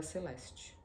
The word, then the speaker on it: Celeste: Seu nome era Celeste, pronunciado com um tch duro, com um em cello.